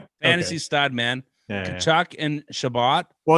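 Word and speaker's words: Tkachuk: Rhymes with Rachuk. Fantasy stud, man. Kachuk and Shabbat.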